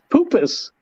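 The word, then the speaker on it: Puppis: Poopus. It's Latin. You pronounce all the letters. It's not like French. It's not like poupe. It's poopus.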